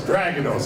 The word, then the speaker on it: Dragados: i always like the way americans say dragonos and stragatos we are a spanish company and it's always dragonos how's those fellas and